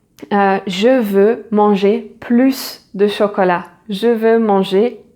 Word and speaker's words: plus: Then it is positive, a positive meaning, you want more, so you are going to pronounce the final S, and so you say je veux manger plus de chocolat.